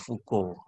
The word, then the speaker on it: Foucault: adalah Michelle f*** out dibacanya Michelle fuuko neuron Prancisnya dibaca begitu Michiels Yang kedua juga